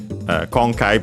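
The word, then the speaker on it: 今回: Uh, concai by the way accented on the first syllable.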